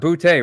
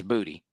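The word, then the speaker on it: Boutte: It is pronounced Butte, right? Not Booty. is Booty.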